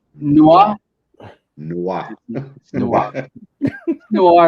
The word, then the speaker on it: noir: It's noir. Pretend you're French. Noir.